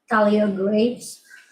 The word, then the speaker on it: Thalia Graves: please pronounce her name on camera, just so we have the correct? You wanna answer? Thalia Graves.